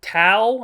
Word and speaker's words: Thao: Court documents obtained by People state Thao, I think the H is silent, Thao Sandy Doan, was arrested